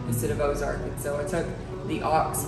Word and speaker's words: Ozark: french settlement which a ux arc and everybody pronounced comes and says oxart instead of ozark so i took the ox part and i